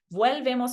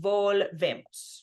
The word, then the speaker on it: volvemos: Vuelvemos is wrong because it has vuelvemos. We want volvemos, right? One point of emphasis within every word.